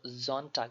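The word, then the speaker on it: Sonntag: থাক বলে হবে না জন ঠাক মানে এখানে এস টা জেড এর মতন উচ্চারণ করতে হবে যেমন জন ঠাক মন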